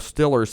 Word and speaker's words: Steelers: And as an old Stillers fan, and that's the way you pronounce it, Stillers, that's right.